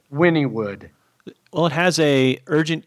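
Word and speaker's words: Wynnewood: a fan public WY in in in it's pronounced Winnie would Winnie would well it has a urgent care and a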